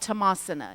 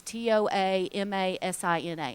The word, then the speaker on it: Toamasina: Over on the east side of Madagascar is a town called Tomasina. It's Toamasina, and that's where Yesupadam,